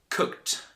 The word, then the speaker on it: cooked: let me tell you there's a trick to know when to pronounce this T sound at the end of regular verbs now look at this example the first example is cooked repeat after me cooked wasn't to be strong